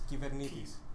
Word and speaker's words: Kubernetes: like to tell people that Kubernetes is a Greek word, which it is, and that most of people say it wrong. Can I pronounce it right? I think I know. Give it a go. Kubernetes. Close enough. It's Kubernetes. Kubernetes.